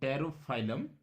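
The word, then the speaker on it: Pterophyllum: पी से spelling इसकी start होती है, तो टेरोफाइलम, इट is angel fish.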